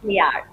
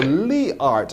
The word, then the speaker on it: Leart: is Le art oh leart I pronounced it badly it's Le art and I mean it almost spells the word heart to begin with you just change the letter H to L lehart is is who